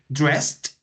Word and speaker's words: dressed: see this one dress the S sound goes at the end of this verth dress so what's the pronunciation dressed dressed dressed what's the